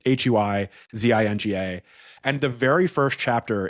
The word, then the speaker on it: Huizinga: Different Dutch people tell me it's pronounced differently, but it's Huizinga.